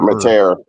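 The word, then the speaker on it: Mateer: And when Arbuckle became sort of a name being brought up, that quarterback, how do you say his name? Mater or Mater? Matire. Yeah.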